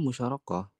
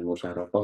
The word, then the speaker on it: musyarakah: Dalam musyarakah, modal perusahaan berasal dari gabungan modal pemilik dan investor. Pihak-pihak tersebut bacanya bukan musyarakah ya, tapi musyarakah.